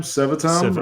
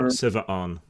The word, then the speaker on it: Seva'an: Sevatam? Seva'an. like severed arm.